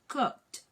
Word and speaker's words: cooked: like verbs ending in K added with ed. You actually produce the sound of the E. It's actually silent, and the D becomes T. So you say cooked.